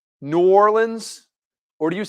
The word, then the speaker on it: New Orleans: Well, yeah, Nolans is how they say it down there, Nolans. But do most people say New Orleans?